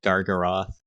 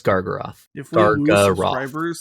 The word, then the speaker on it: Gargaroth: that and then you it's pronounced gargaroth yeah gargoyle elder gargoyle it is no it's gargaroth thanks to gagaroth i'm